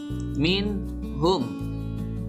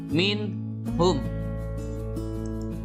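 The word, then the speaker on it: منهم: Contoh, nun mati bertemu dengan ha dibaca min hum. Sekali lagi, min hum.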